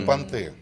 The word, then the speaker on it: понты: Это понты. Это не Да, это да. Понты? Правильно ставьте ударение.